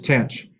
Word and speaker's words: tanh: Sine hyperbolic, usually it's pronounced sinh. And cosine hyperbolic is cosh. And then tangent hyperbolic is tanh.